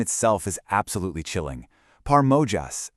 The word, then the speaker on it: Porajmos: Porajmos, and that's pronounced Pariah, is the Romani word for this genocide, and it translates to the devouring.